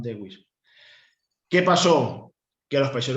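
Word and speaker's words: Dawes: En teoría se pronuncia plan Doe, pero bueno, plan Dewis.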